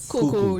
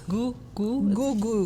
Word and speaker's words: Gugu: Because you guys are saying the K and my name starts with a G. So it's Gugu. Yes, Gugu, not Cuckoo.